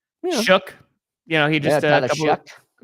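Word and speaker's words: Shough: So Shook, you know, he just Shuck, excuse me. Shuck. Shuck. It's hard when the name is spelled in no way like it sounds.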